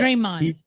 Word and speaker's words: Draymond: the top players on the Cleveland Cavaliers, and Draymond Green. Or is that the way you pronounce it? Draymond, right? Yes. Yeah. Draymond.